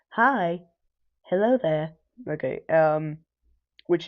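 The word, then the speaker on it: HAI: everybody else featured are H AI pronounced hi, hello there.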